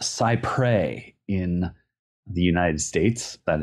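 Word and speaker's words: cy-près: a legal Doctrine pronounced cyprey in the United States that is probably not how it's pronounced that is how Americans pronounce it yes um it is not pronounced Cypress uh it is not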